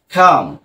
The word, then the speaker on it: come: এই যে আ, যার কারণে খাম, খাম, রাইট। এই যে ইটা কিন্তু উচ্চারিত হয়নি, অর্থাৎ শব্দের শেষে যদি ই থাকে তাহলে সেটা কি হবে না, উচ্চারিত হবে না, রাইট।